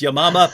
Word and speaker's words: Yamama: the Battle of I say yamama that she pronounced it correctly which is yamama but as soon as anyone says Battle of